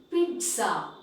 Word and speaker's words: pizza: It is actually, the correct pronunciation is pizza.